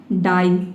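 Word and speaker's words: die: डी का ड हो जाएगा और आई ई का हो जाएगा आई। ये हो जाएगा आपका डाई।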